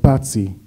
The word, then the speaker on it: Paci: And I said, yes, it's, in Italian they pronounce Paci, but it's written Paci. I mean, it's written right like in Albanian language, so you should write it in the right way in Hebrew.